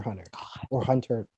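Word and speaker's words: Hunter × Hunter: the show and Hunter x Hunter or hunter Hunter hunter x hunter that's her x it's it's actually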